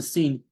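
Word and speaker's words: س: A tha makes you blow the air out. Tha, tha, tha, tha, tha. But when you pronounce the sin, sin, you see the teeth are touching each other. Sin, sin, tha. The teeth, upper and lower teeth are not touching each other for the tha.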